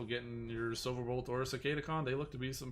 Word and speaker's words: Cicadacon: beast ward silverbolt and cicadacon that's that's how you say it people cicada khan um excuse me um